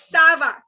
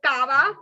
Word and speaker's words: ça va: This is sava. It is not kava. Okay. So don't make the mistake of saying kava, because I used to make that mistake when I was in school. So you don't make the mistake. It's not kava, but it is sava.